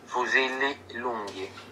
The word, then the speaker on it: Lunghi: Lunghi.